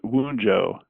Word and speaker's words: Wunjo: Ultimate coincidence of the day, which is Wunjo, letter W and V, pronounced Wunjo.